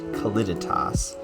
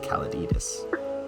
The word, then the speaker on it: Caliditas: custom dimension which i've been informed is called caledidus i pronounced it wrong in the last episode i called it kalititas but that is not correct it is actually pronounced calladidus um but yeah so welcome i uh i